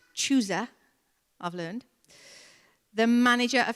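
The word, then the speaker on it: Chuza: Joanna, the wife of, it's pronounced Chusa, I've learned, the manager of Herod's household, Susanna, and many others.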